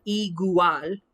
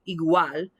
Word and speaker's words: igual: one of those diphthongs remember i indicated every vowel gets its own syllable unless you have two vowels one strong and one week side by side and then they marry and make their own sound so instead of e gual igual it's okay there's our